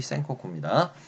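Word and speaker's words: 戦国: 아니 한자로는 전국이고 일본말로 발음으로 전국의 센코쿠입니다.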